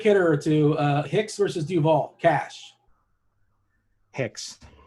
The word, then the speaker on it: Duvall: to uh hicks versus duvall cash hicks i didn't pronounce that correctly that's duval that person must be